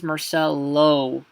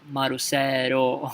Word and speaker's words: Marcelo: Okay, like my name is Marcelo. Okay, but lo is going to become ro, Marcelo.